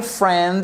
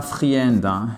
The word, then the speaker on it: friend: My friend. Alors déjà, c'est pas friend, c'est friend. Le I, on l'entend pas.